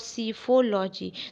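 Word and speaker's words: psephology: इन incorrect spelling वाला word होता है ना, इनकरेक्ट स्पेलिंग, उसमें आपसे पूछा जा चुका है ये वर्ड सीफोलॉजी। तो इसमें पी साइलेंट होता है फर्स्ट, इस बात का ध्यान रखेंगे।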